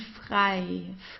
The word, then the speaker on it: frei: Then we have the combination EI, das I here, the egg, das I. So it's pronounced the same as the English I, like I do this and that, right? It's just das I. This is how we pronounce it. No matter whether it's at the beginning, in the middle, or at the end of a word, just as with IE, we pronounce it as I, leicht.